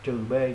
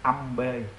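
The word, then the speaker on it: −B: Do đó cách đọc đúng phải đọc là trừ B, còn nếu các bạn đọc âm B là không chuẩn xác nha.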